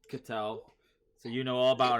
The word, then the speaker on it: Ketel: Keagle? Ketel.